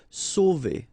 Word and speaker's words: sauver: Sauver. Okay, remember when you combine A and U, you get the sound O. So really like the letter O. Okay, so sauver, sauver.